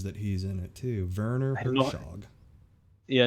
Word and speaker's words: Werner Herzog: Werner Herzog. Yeah, in German it's Werner Herzog.